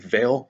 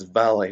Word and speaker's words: Vale: on the new album people commonly mispronounced at Vale but its valley which actually makes sense that is their last album and it's the Latin word for farewell or at least I've